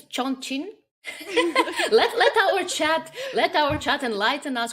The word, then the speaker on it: Chongqing: I'm gonna try to pronounce the name of the city. Ko- Kong Sing. Ah, I think it's Chongqing.